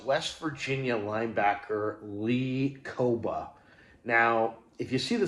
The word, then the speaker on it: Kpogba: in the middle or the P and the G, I should say, are silent. It's pronounced Lee Koba.